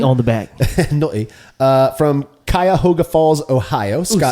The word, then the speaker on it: Cuyahoga: From Cuyahoga Falls, Ohio. Scott say that again. Gordon. Cuyahoga.